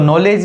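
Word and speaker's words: knowledge: मैं आपको बताता हूं नॉलेज तो नॉलेज में सबसे पहला वर्ल्ड के है लेकिन के हमेशा साइलेंट रहता आउट को नॉलेज ही पड़ते हैं एक बड़ा रिसीप्ट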